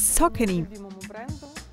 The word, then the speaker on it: Saucony: cherry on top is saucony yes Saucony do you know that people are confused how to pronounce this name correct that's why the explanation appeared on the official web page it's like sock any you know salt and